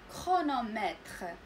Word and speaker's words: chronomètre: كرونومتر فالسي اش ماشي دائما تنطق ش، انما في بعض الكلمات اللي كتكون اصلها يوناني تنطق ك، كتعطينا لو سون ك.